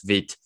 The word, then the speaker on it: Vite: actually uh friend world for quick and is pronounced as vit and then like if you want to try